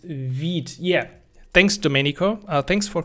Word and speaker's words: Vite: dev i could uh or is it actually called wheat i yeah v for quick pronounced vid yeah thanks domenico thanks